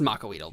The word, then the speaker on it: Macuahuitl: Yeah, so it's Macuahuitl. Yeah. Macuahuitl. It's pronounced Makuahuitl, but yeah, it's spelled weirdly.